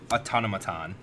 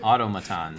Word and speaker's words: automaton: this yeah um shiny Talisman Foundry inspector adaptive autonomaton thank you thank you for pronouncing it wrong Auto me automaton that's so many people thought about it uh